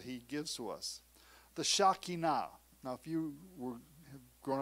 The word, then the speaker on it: Shekinah: the things that he gives to us the shakina now if you were grown up in pentecostal churches from the deep south they call it the shekinah glory but it's pronounced shakina hundreds of years before yeshua came israel looked